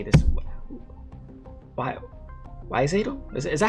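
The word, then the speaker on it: Wiš'adel: Oh, Wishadel.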